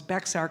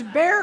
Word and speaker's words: Bexar: that um here in Bear County which I thought was Bexar County but I heard no it's not don't pronounce it Bexar County it's Bear County um that the average